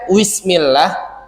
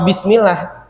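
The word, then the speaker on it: بسم الله: atau misalnya bapak-bapak sering dengar ada yang ngaji bacanya gillill bismillah itu yang dia baca wiismillah mismillah apa bismillah ya enggak jelas itu misalnya tadizubillahinyaitirim bismillahirah bismillah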